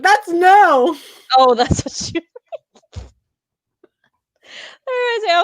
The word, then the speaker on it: non: aren't spoken in French, no is spelled N-O-N, but it's spoken no. So it's spelled non, and it said no, and it's like, why is there an N?